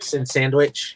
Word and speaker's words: Sienkiewicz: I mean, seeing as he's one of them, or Sandwich, however you say it. How do you say it, Sylvester? Sandwich. He said say it like sandwich.